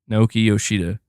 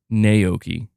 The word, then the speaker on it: Naoki Yoshida: Naoki Yoshida, not Naoki.